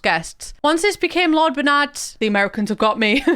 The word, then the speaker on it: Bernard: of Bernard and Mimsy I think the Americans pronounce it Bernard but that's Bernard for me and wiberg's a European place so it's berned so when you actually